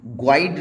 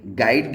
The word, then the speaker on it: guide: यू अगर जी के बाद आता है तो ये साइलेंट हो जाता है, जैसे कि GUIDE ग्वाइड ना बोल करके गाइड बोला जाएगा, यहाँ यू साइलेंट हो जाएगा।